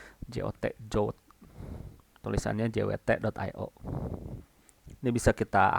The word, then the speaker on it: JWT: Di pronounce-nya disebutnya JOT. JOT.